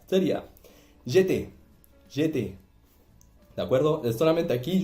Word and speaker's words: j'étais: es j'étais, no, es j'étais, ¿de acuerdo? J'étais. Siempre cuando hay una AI suena como E, ¿de acuerdo? Y no se pronuncia la letra al final, la consonante del final de la palabra.